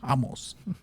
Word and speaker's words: Ramos: Ricardo Ramos, or Ramos, because he's Brazilian, so, you don't pronounce the R. It's Ramos.